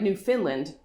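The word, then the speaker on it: Newfoundland: a big effort to EMP emphasize the last syllable in New Finland they are very conscious that it sounds like New Finland and make a point to tell people from away how to pronounce their province Canada isn't at all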